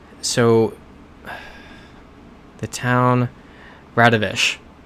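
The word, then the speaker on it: Radoviš: see that because that that kind of very blocky W makes a shh sound so that's how I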